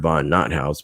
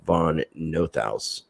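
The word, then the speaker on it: von NotHaus: vaughn no thousand review it might look like it reads bernard vaughn not house but the connection critter act german pronunciation is bernard von northaus he is the i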